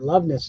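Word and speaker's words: Loveness: plus condition Jeff lovess make sure you say it right lovess not a fake name it's a real name for solo series for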